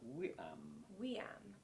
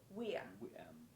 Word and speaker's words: viam: Weam. The Romans Which always starts pronounce a V as a what? Weam.